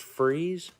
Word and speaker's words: Fries: Virginia lick Skillet nice pronounced freeze actually pronounced freeze free oh okay I would